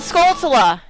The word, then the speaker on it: Skulltula: is the last gold skulltula now and she still doesn't pronounce the word correctly that's okay shut up it's it's supposed to be skull and tarantula oh my god shut